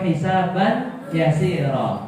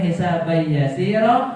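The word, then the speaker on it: حسابا يسيرا: Allahumma hasibni hisab yasir atau hisaban yasir? Boleh hisab yasir atau hisaban yasir? Kalau hisab yasiro berarti cara bacanya dengan adanya idah ya hisab yasir atau hisaban yasir. Cara bacanya saja berbeda tapi intinya sa.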